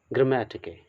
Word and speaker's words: GRAMMATIKE: ग्रामेटिके, बहुत लोग इसे टिकने भी पढ़ते हैं, ग्रामेटिक ने, ओके।